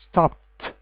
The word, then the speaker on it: stopped: stop the past is stopped stopped not stop it do not pronounce it as D also if you could